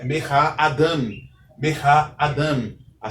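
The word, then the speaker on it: אָדָם: A única exceção é a palavra Eved, que tem a sílaba tônica na penúltima sílaba.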